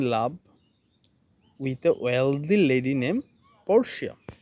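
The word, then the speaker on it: Portia: with wealthy lady name পরশিয়া তো এখানে আমি যদি সঠিক উচ্চারণটা বলি উচ্চারণটা হবে পরসা তো একবার এরকম হল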